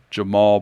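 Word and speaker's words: Jemarl: a fourstar from the LA area in California Jamal Baker his name is spelled j m a r l but you pronounce it Jamal I haven't figured out that but 6'4 shooting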